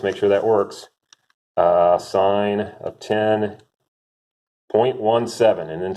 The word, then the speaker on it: sine: the sign it's written it's pronounced sign but it's usually written like this like cents in but